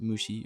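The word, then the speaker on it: 虫: This last character in the word for parasite, pronounced mushi on its own, is the character in Japanese for insects and minute life forms pertaining to bacteria and parasites.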